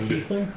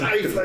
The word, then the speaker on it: tiefling: He is playing a tiefling illusionist named Tiefling? Argyle Hornblower. That is actually the correct way to say tiefling. I say tiefling because it sounds better. And TIE has always been told to me as as time.